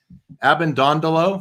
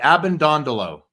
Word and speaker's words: Abbondondolo: must have been first in attendance at school Abend dondolo that's how you say it ab and dondolo I got it right you got it nailed